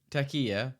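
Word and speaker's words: Türkiye: You know, Turkiye is how they would like you to pronounce it, and they've made that very clear, the Turkish people.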